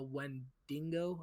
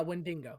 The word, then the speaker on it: Wendigo: the Native American like mythology creature called the Wendigo, I believe it's pronounced. Wendigo. Yes. Mhm. Yeah, Wendigo.